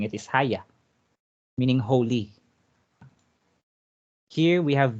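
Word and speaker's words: Hagia: neyman they will pronounce the proper way of pronouncing it is haya meaning holy here we have the monastery or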